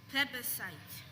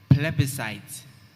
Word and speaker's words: plebiscite: time breathing good flabberside good plebicides that you're ending the ending of the word okay so the word is plebiscite good are there any